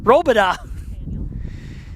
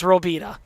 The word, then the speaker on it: Robida: Well, how would I say his name wrong? Robida. You call him Nathaniel, I call him Nathan. But everybody will say it's Robida.